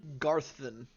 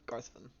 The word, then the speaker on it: Garvin: name was Captain garthin you said garthan spell it like Garth g-a-r-t-h then v i n Garvin okay Garth Ben then